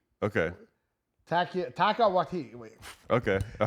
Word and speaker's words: Taika Waititi: Watiti. Okay. Taika Waititi. Wait. Okay. All right. Yeah, the name I just mispronounced.